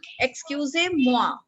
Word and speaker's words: Excusez-moi: Excusez-moi. Now, how will you write moi? MUA.